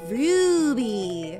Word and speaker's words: Ruby: It's Ruby. You gotta say it with a roo. Like, a roo.